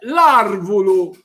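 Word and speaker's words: l'arvulu: Por ejemplo, el árbol, que en siciliano se dice arvulu, con el artículo se dice larvulu y se escribe L apóstrofo y la palabra.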